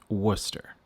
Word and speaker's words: Worcester: city in New England yes Worcester this word is pronounced Worcester the English language does not make sense moving on I wouldn't